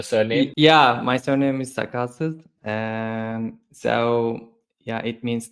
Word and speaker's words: Sakalsiz: we have come across could you help us pronounce that properly the surname yeah my surname is sasus um so yeah it means that beardless so